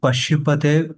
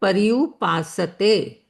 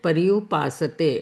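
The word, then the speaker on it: पर्युपासते: Would it be Pashupate, which means exclusive devotion? Yeah, Mummy, do you want to take that? That is called Paryupasate. Okay, sorry. Okay, that Paripas. is how we pronounce it. Paryupasate.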